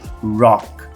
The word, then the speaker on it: rock: por exemplo rock rock uma coisa que eu vejo muito é o pessoal principalmente brasileiros confundindo o som rock com rock rock se você chega nos Estados Unidos e fala rock eles vão entender os forte rock rock no gelo enquanto que para você se referir Ao estilo musical rock eu vou ter que pronunciar com esse r esse R enrolado r retroflexo e o ch mudo